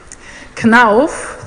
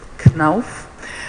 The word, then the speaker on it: Knauf: KNAF, this is how you pronounce it, KNAF, is a family-owned enterprise.